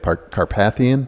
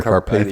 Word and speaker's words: Carpathian: Rover Defender uh car I don't know how you say it Carpathian or carpath I think it's Carpathian yeah yeah Carpathian Edition